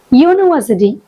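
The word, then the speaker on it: university: பட் இந்த next வேர்ட்ல பாருங்க, யூனிவர்சிட்டி யூ அப்படின்னு வருது. அப்படிங்கிறது இட்ஸ் a vowel sound. But யூ அப்படின்னு வரும்போது அந்த இடத்துல கான்சனன்ட் சவுண்ட் தான் இருக்கு.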